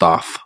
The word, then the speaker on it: Thoth: yeah see I did I think it's pronounced off after thought yeah yeah yeah it's